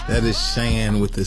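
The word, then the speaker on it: Chan: said her name wrong so it's Shan with a c but um c yeah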